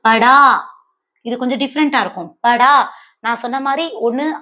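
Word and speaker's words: पढ़ा: படா. நான் சொன்ன மாதிரி ஒண்ணு ஆ சவுண்ட்ல எண்ட் ஆகணும், இல்லைன்னு யா சவுண்ட்ல எண்ட் ஆகணும். சோ படா.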